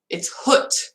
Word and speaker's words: het: I know I don't pronounce het properly because I learned het from Dutch from the Netherlands, and in Belgian one it's hut, like hut, like hut, hood.